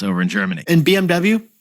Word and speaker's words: BMW: And BMW, BMW in Germany.